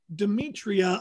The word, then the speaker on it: Demetria: i was asking um demetria i'm spelling it d-e-m-e-t-r-i-a am i pronouncing your name properly yes that's correct all right all right